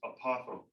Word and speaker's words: apothem: It's pronounced apothome.